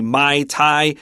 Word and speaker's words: Muay Thai: you the truth I I will say this one pretty confidently my tie is what a lot of the guys really into martial arts like to say because people that love